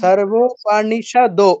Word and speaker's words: সর্বোপনিষদ: सर्वोपनिषद गावो শুনুন, दुग्धा সর্বোপনিষদ, ওকার আছে, দ ওকার আছে, দ ওকার আছে, সর্বোপনিষদ গাবো ওকার কিন্তু দীর্ঘ। আকার, ওকার, একার এগুলো কিন্তু দীর্ঘ। ঠিক আছে? আমরা রস্বস্বর দীর্ঘস্বর পড়েছিলাম প্রথম ক্লাসেই। তো সর্বোপনিষদো গাবো।